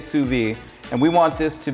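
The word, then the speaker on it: sous vide: this is called SUV they spell it all kinds of weird ways but you say it suvi and we want this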